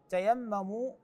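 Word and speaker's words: تَيَمَّمُوا: تعالى ولا تيمموا الخبيث تيمموا هكذا تقرا بعضهم يشتبه مع كلمه تيمم يعني عفوا تتيمم باضافه تاء اخرى وهذا مو صحيح تيمم يختلف معناها عن تتيمم تتيمم تتيمم هنان تيمموا اي لا تقصد الرديئ من المال ايضا في الايه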